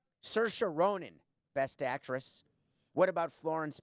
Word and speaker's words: Saoirse Ronan: he would know that I can't pronounce Shar she rinin so or seer inin Chiron and Rana Ninh coca would have it in my ear Saoirse Ronan Best Actress what about